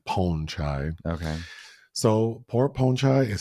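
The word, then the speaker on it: Pornchai: down okay then poor pornai I was told I'm not saying the name correctly it's not pronounced porn it's like ponchai okay so poor ponchai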